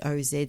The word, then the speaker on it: Oz: Overwhelmingly, the later evidence is for the OZ spelling, with the final sound pronounced as a Z, yeah.